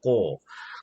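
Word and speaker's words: 子: 이걸 자라고 읽는데 일본에서는 이 자를 발음이 뭐냐면 꼬가 돼요. 꼬.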